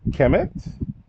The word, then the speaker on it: Kemet: So just let you know to pronounce the M at the end. This is Kemet.